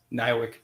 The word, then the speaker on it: NIWC: initials niwc yes and how do you pronounce that in your workplace when you refer to your place of niwick Pacific correct what do you do